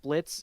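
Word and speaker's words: Blitzø: favorite jokes was just Blitz introducing himself to loopy and being like silent yeah yeah yeah my name is blit I'm Blitz the O is silent and then Loop's like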